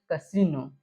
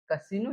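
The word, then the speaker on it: casino: पेंगे first आगे देखो छठा नियम आई के आई का उच्चारण ई बहुत कम शब्द में होता है आई का बहुत कम शब्द में ई हो जाए जैसे कसीनो कसीनो जैसे हो गया य पर कसीनो कसीनो मतलब जुआ जुआ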